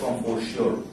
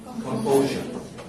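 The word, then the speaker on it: composure: কম্পোজার অর্থ লিখো, দেখো দেখে মনে হবে এটা কম্পোজিওর, কম্পোজিওর, কিন্তু উচ্চারণ হবে কি কম্পোজার না।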